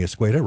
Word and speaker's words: Escueda: And you'll be able to see Ashley Swearengin and the Public Utility Director, Tommy Escueda, rhymes with tomato.